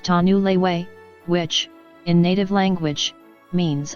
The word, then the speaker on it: Tanuluet: washoe tribe has presented the name tanuluet pronounced tanu leiwei which in native language